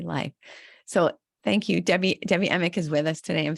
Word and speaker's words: Emick: So Debbie, and am I pronouncing your last name right? Emick? Yes, that's correct.